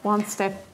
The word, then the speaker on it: Stepptanz: … steppen …» JE: «Wird deutsch und nicht englisch ausgesprochen.» JM: «Ich glaube wirklich auch, es wird deutsch ausgesprochen.» JE: «Ja ich weiss.